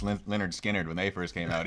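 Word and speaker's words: Lynyrd Skynyrd: It's like no one knew how to pronounce Leonard Skinner when they first came out either.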